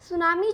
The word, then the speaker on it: tsunami: सुनामी होती क्या है सुनामी जो वर्ड है जब आप इसकी स्पेलिंग लिखेंगे तब लिखेंगे टीएसयू एग माय लेकिन जब आप इसको प्रणाम्स करेंगे तब टीम को साइलेंट रखेंगे तो एकदम ध्यान से